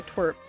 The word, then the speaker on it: TWRP: It's Starlight Brigade by Twerp.